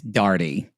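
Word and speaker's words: Daugherty: That was my counselor, and she was like, "My name rhymes with party. It's Darty."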